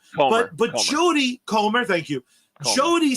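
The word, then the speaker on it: Jodie Comer: fact that they gave to jod cummer and and I'm probably saying her name wrong but but Jody comr thank you Jody sounds exactly exactly like her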